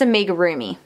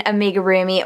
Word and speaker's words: amigurumi: it starts with a i think it's amiga roomy i think that's how you pronounce it so this is an amigurumi whale and then this